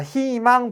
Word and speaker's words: 희망: 자, 희망 볼게요. 첫 소리 뭐예요? 자음이네. 자음이 첫 소리면 이로 발음해야 되죠. 근데 여기 희가 아니라 히로 발음해야 되겠죠.